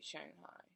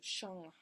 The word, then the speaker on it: Shanghai: or much about Chinese they say Shanghai it's not Shang Shang is not how you that's not how you would pronounce ang Sh ang makes the hyung sound so Shanghai just like American people or not just American people but other people if you see why ang you'd say yang it's not yang it's